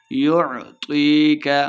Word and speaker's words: يُعْطِيكَ: لمع نہیں کریں گے۔ يُعْطِيكَ، عین کو تلفظ کے ساتھ پڑھنا ہے، تو موٹا پڑھا جا رہا ہے۔ طی، یا مد ہے، دو حرکات لمع کر کے پڑھیں گے۔ رَبُّكَ، با مشدد ہے،